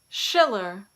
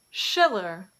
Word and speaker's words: Schiller: Some common surnames that begin with SCH also take this sh pronunciation in English. Schiller, Schiller.